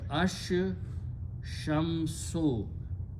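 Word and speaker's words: الشَّمْس: Okay, sheen is a shamsi letter, so it kills the sound of lam, so it becomes ash shamsu, the sun.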